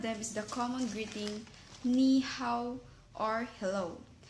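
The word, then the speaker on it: 你好: is the common greeting knee how or hello despite being written with two third tones the first character is pronounced with the second tone me in conclusion the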